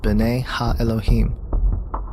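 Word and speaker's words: bene elohim: of god mentioned here in the hebrew is pronounced bane elohim the septuagint which is the greek translation of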